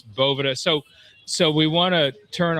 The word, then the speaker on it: Boveda: I think I was calling it Boveda, which I think if we talked about it last time, that's a pretty common mispronunciation of that, right, JP? It certainly is, my friends. It's either Boveda or Bovita is what most people call it.